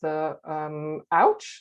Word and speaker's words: OWCH: And for many years, she has worked with OWCH, that's how you pronounce it, Older Women's Co-Housing Group, who at the end of 2016 moved into Newground Co-Housing in North London.